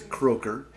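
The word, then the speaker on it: Krakau: Former Iowa State Cyclone, Merv Croker, and that's how you pronounce that name, is Croker.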